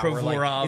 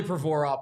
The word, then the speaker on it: Provorov: He's going the Provorov route. Provorov, it's really Provorov, but he's like, dude, just call me Provorov.